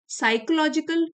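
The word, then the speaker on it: psychological: है, इट इज अ साइकोलॉजिकल reality. P silent है, बल्कि ये मनोवैज्ञानिक रियलिटी है, एक सच्चाई है ये।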